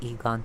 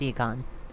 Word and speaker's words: Egon: got another one oh it's actually Egon dang it I always pronounce it wrong it's Eon I have a new